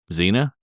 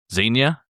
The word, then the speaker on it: Xenia: I'll spell it for you and take a stab at it. All right. Xenia. Xena. Close. That's that not was bad. pretty close. Xenia. Xenia.